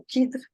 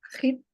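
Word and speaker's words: Khidr: E o Hidr, muitas pessoas falam o Kidr, mas a pronúncia correta é Hidr.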